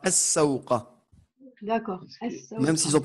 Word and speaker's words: السوق: Ouais, c'est une lettre shamsiya, on ne prononce pas le lam, donc ça sera as-sawqa.